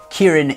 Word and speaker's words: Kirin: And now many Chinese and Asian brands also use the chilein in their branding like Kirin beer from Japan for example. Kirin is the Japanese pronunciation of chilin and you can see a golden chilein in the middle of their logo.